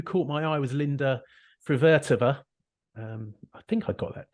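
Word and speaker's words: Fruhvirtová: The other player who caught my eye was Linda Frivertova. I think I got that pronunciation.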